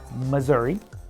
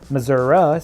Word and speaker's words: Missouri: appeal the different crowds Missoura sound is more prevalent in rural areas basically everyone now says